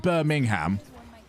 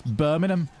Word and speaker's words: Birmingham: missing out you don't pronounce the G it's not Birmingham it's Birmingham Birmingham I feel like